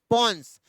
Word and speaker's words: pons: Hand का PONS भाई साहब पॉन्स बोलना है, बिल्कुल ही प्रोनाउंसिएशन में गलती नहीं करनी। हाँ जानता हूं शरारती बच्चे हैं आप लोग। भाई साहब PONS पॉन्स, ये क्या रेगुलेट करता है?